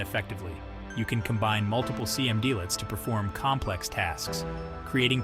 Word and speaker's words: cmdlets: Computing environments Powershell uses cmdlets pronounced command lets which are small single-p